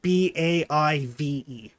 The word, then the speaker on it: Badb: Crazy Gaelic spelling, but it's pronounced BAIVE.